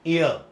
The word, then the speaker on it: heir: HEIR, এর সঠিক উচ্চারণটা হচ্ছে গিয়ে এয়ার। শুরুতে হ বা লাস্টে র, দুটোর কোনোটাই আসে না।